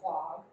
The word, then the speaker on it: quahog: As many of you might know, or probably know, wampum is actually made from quahog, or quag, as it's sometimes pronounced, and whelk shells found in and around coastal New England and the Mid-Atlantic.